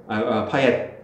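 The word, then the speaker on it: Payet: 그러니까 T를 발음을 한대. 아 파예트야? 파옛.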